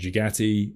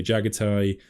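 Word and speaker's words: Jaghatai: I think Jagati is said, then Games Workshop officially say Jagatai.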